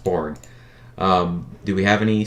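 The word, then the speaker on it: Borgne: in lake um borg b-o-r-g-n-e i think it's pronounced board um do we have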